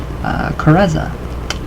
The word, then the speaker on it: karezza: The mental technique used to accomplish this is known as karezza, with the accent on the second syllable.